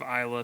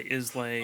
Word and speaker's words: Islay: pronunciation of scotch yeah instead of Isa people say islay oh okay stuff like